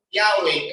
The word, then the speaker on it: Yahweh: Hindi na, kaya hindi sila nagpo-pronounce. Kaya doon padaan yung Yahweh kasi Y, lalagyan nila ng H sa dulo, hasta ka lang, Ya, tapos H, di ba?